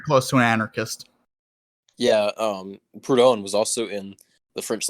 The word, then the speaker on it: Proudhon: I can't pronounce his name. Proudhon!